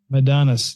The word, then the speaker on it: Madanes: The world-renowned therapist, Cloe Madanes. Madanes. Yeah. Mm-hmm. I wasn't sure how to pronounce that properly, but thank you so much for that, Jillian.